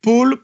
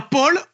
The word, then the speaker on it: Paul: Mais voilà, P-A-U-L ne se prononce pas de la même manière que P-O-L. Voilà. Il y a Paul ou Paul, c'est pas la même chose.